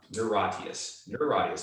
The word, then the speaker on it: Niratias: Niratias, like neurosis, but Ratius.